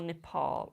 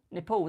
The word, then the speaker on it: Nepal: I see more Nepal.